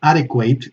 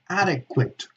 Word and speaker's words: adequate: Adequate is an adjective, so it's not adequate, it's adequate, adequate.